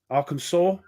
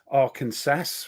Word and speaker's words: Arkansas: Combat Commander hello there Arkansas or as most most Brits say Aransas for some reason David Michigan